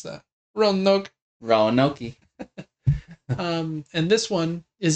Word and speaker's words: Roanoke: How would you pronounce that? Roanoke.